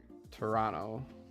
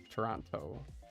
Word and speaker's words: Toronto: People who grew up around Toronto don't pronounce the second T. Toronto. Toronto.